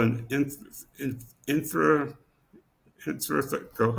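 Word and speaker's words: intrathecal: or injection is it's called an in infra intratheal how do you say it Sophia intratheal intratheal intratheal injection.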